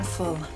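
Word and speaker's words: Voll: Everyone calls him old man full. I want to chat with full, but it's spelled V O L.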